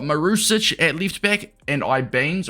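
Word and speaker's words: Ibañez: We've got Marusic at left back, and Ibanez, or Ibanez as how it's pronounced, as our 2 Serie A players.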